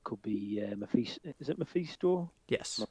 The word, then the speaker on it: Mephisto: Is it Mephisto? Yes. Am I pronouncing that right?